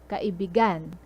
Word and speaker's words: kaibigan: So kaibigan. If you put the stress at gan at the last syllable, it means lover. But friend, as in friend, like buddy, pal. So kaibi, the stress is at B.